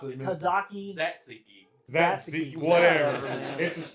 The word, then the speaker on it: tzatziki: Well, Well, how do you pronounce it? Tzatziki.